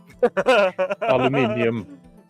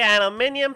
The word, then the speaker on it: aluminium: some in their eyes aluminum uh to be fair it's pronounced both ways I've heard first we sprinkle the aluminium powder around ninja it's